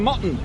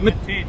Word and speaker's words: Matin: How do you actually pronounce? I've always called him Mutton. Yeah, Matin.